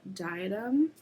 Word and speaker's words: Diadem: This is called Diadem, which, if you've seen Harry Potter, that's how you pronounce it.